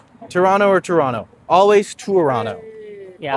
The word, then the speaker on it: Toronto: it's spelled is because no one in Toronto pronounces the second T. This is something if you come here and you say Toronto, we know you're not from here.